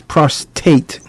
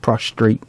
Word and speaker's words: prostate: So, what we're talking about today is prostate, not prostrate, prostate cancer.